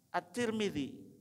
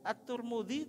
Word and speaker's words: At-Tirmidzi: Nah, Sunan Abu Dawud, At-Tirmidzi, bacanya At-Turmudi atau At-Tirmidzi atau At-Tirmidzi, semuanya boleh. Tapi secara umum dibaca 2 itu Pak Bu. At-Tirmidzi boleh, At-Turmudi juga boleh gitu. Jadi dua-duanya boleh.